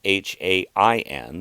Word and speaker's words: Samhain: Now, the word is spelled Samhain, but my sources inform me that it is pronounced Samhain.